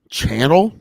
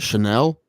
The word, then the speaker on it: Chanel: know where it is I wrote um Channel but I'm gonna pronounce it Chanel Chanel yeah both are correct the correct answer is Chanel Number Five or if you're from the hood you can call it channel that reminds me of